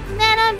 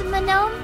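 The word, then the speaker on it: Manon: know are there any man on Believers in the chat actually you don't say man on right it's manome I think that's such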